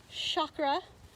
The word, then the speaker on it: chakra: Now we hear the word chakra a lot more commonly, but the Sanskrit pronunciation is chakra, like chocolate, but really they're interchangeable.